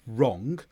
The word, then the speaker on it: wrong: while wr W combinations often have a silent W and we just use the R instead. So these words are wrong and rewrite because the W before the R in right is silent.